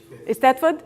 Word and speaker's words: Eisteddfod: And I'm not sure how to pronounce Eisteddfod. Eisteddfod?